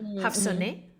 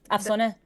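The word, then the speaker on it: Afsaneh: I'm going to pronounce it as I normally would do in Spanish. Hafsone. Yeah, that's Afsone.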